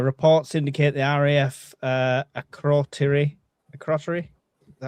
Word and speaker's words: Akrotiri: Reports indicate the RAF uh Akrotiri Akrotiri. Is that how you say it, Jay? Akrotiri.